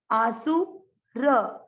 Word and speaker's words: आसुर: आसु र, र में अ मिक्स करेंगे तो अपने आप ही ये दीर्घ हो जाएगा। आसुर, आसुर।